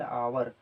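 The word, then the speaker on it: hour: जैसे एन आवर, तो इसे हम क्या पढ़ेंगे, आवर पढ़ेंगे, ये नहीं कि हावर मत पढ़ दीजिएगा।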